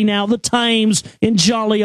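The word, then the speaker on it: Thames: again yes the tames the tames rather let me say it correctly now the tames in Jolly o England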